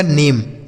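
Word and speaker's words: name: ए एम ई जो होगा ना इसको आपको एम पढ़ना है। ठीक है? ए एम ई को एम जैसे एन से हो गया न। ए एम ई को एम मिला के बनेगा नेम। एन ए एम ई नेम।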